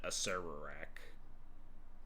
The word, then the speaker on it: Acererak: 99% of people pronounce it Aserak. Goes back to the original tomb of fair enough. Acerok. Acerok sounds more D and D, but a ser same as a video.